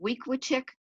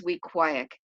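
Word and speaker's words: Weequahic: its principal dr hertzberg some people called it week with chick some called it we quake like cheesecake but the right way was we quiet and it is probably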